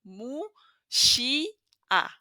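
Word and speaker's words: Muxía: guide you through it it's Mo sh a so the u sound as we saw it's letter mu so so far so good letter X here inia it's a special sound it's sh so a soft sh sound so mus Mushi that's letter i in Spanish musi and then letter a separate as I told you you pronounce every vowel separately so mu she a mus I hope you find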